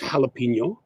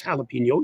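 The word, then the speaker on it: jalapeño: But also, Spanish people, I know it's jalapeno. I know it's jalapeno, even though it's spelled with a J.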